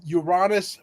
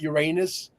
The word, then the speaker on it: Uranus: aspects so Laura I have to ask you Uranus probably I would venture to say is the proper way of pronouncing it not Uranus is it unless you want to have a